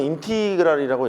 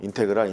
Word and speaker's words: 인티그랄: 읽기로는 인티그랄이라고 읽어. 인테그랄. 인티그랄. 그렇게 읽어.